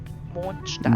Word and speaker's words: Mondstadt: In German, we would actually say it like this: Mondstadt. Mondstadt. So a soft D at the end of Mond, followed by a harder but not sharp T sound in Stadt. Mondstadt. Ah. ST is usually pronounced like an SH sound plus a T sound combined, so like SHT, St, Mondstadt.